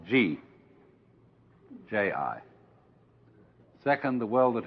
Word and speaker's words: Ji: easier to remember than Chinese and easier to pronounce. First of all, the world that is called Ji, J-I.